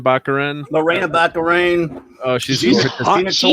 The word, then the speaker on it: Baccarin: Baccarin.